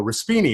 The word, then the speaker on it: Raspyni: I had it written phonetically on the top, R-A dash, and then all in caps, S-P-E-E, and then dash N-E. So people would go Raspyni, and it was perfect.